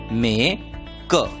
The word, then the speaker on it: make: एम की आवाज म, ए का नाम ए, के की आवाज क और ई को भूल जाना है, इसलिए शब्द का उच्चारण होगा मे क, मेक।